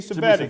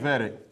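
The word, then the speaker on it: Cvetic: That's Savicki, is that how you say his name? Jimmy Jimmy Savetic. Savetic.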